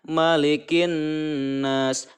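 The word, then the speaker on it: مَلِكِ النَّاسِ: Karena di sini ada alif lam bertemu dengan huruf nun, maka cara membacanya diidghamkan. Malikin, malikin, malikin. Nah, huruf kaf dimasukkan ke dalam huruf nun.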